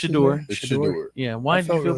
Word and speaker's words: Shedeur: Is that how you pronounce it? Shedeur.